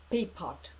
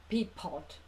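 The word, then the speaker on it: Pierpont: Автор песни Джеймс Лорд Пипот. Я встречала написание его имени по-русски как Джеймс Лорд Пьерпонт и Джеймс Пирпон, но по-английски его фамилия произносится как Пипот. Я специально консультировалась. Пипот.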